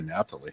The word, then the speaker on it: Naphtali: How do you pronounce it in ritual? We say Naphtali.